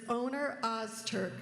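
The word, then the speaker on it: Öner Öztürk: His name is Oner Ozturk, which he said is pretty close to the correct pronunciation.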